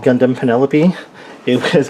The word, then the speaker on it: Penelope: I didn't know how to pronounce it, but now I know it's called Penelope, and that the translation and the spelling in